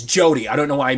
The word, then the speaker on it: Jodie: I said Judy or Julie. It's Jodie.